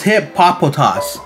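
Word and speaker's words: Hippopotas: got bergamite we got hip-hop anonymous yo i learned how to say this guy's name it's hip papa toss but i like saying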